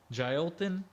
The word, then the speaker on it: Jailton: How do you say his first name? Jalton? I listened to Daniel Cormier say it today. Jailton.